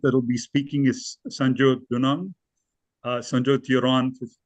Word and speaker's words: Sanjot: My name is as you said, Sanjot. If you're curious, it's pronounced Sun-Jo.